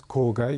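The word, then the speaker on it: 郊外: À l'époque Meiji, ça c'est la prononciation japonaise. Kogai, ça veut dire la banlieue.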